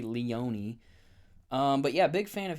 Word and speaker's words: Leone: I thought his last name was Leon, but apparently it's Leone. I thought the E was silent, but it's not.